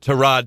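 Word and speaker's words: Tyrod: to rod right that's how you say it to rod Taylor and Baker Mayfield competition when are when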